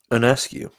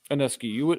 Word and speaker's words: Ionescu: Ionescu. Ionescu.